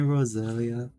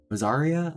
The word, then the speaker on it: Rosaria: Mommy Rosalia. Rosalia. Rosaria? Oh my god, I keep on saying her name wrong.